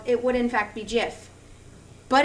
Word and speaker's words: GIF: Close, but no cigar, because if it was because of the vowels, it would in fact be GIF. But it's not. So these words, their pronunciation all has to do with the origins of them.